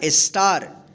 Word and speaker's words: star: आ उच्चारण नियम का, कि जब किसी वर्ड में ए के बाद यानी लास्ट में ए के बाद अंत में आर रहे तो इस ए का क्या उच्चारण करेंगे, आ उच्चारण करेंगे, ठीक है।